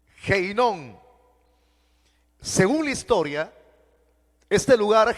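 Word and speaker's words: Ge Hinnom: que se utiliza y es ge inon así se pronuncia heinon según la historia este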